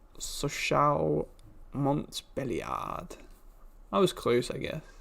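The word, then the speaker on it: Sochaux-Montbéliard: it's another domination game fcsm is pronounced sochal montbelliard i was close i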